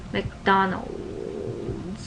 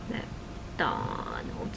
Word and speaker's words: McDonald's: you know in Korean McDonald McDonald it's three syllables in English but in cran it would be McDonald four syllables so I wanted to